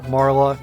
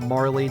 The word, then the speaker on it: Marle: I'm going with Marle because that is a little bit closer to... In fact, I believe that Marle is the the way it is spelled on a lot of Japanese exclusive promotional materials that had the names listed out in English.